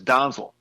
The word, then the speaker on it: Donzel: And actually, the pronunciation is Donzel, but I'll take it any way I can get it.